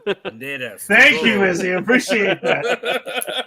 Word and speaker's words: Banderas: Yes, Banderas. Banderas.